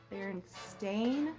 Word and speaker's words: Berenstain: Everybody remembers them, the Berenstain Bears, right? Is that what you remember? That's what I remember. Apparently, we are all wrong, and this took the internet by storm. It's actually the Berenstain Bears with an A, which just doesn't even